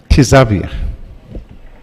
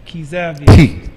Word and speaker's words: Xavier: What is your pronunciation of his first name? Xavier. Oh, it's Xavier.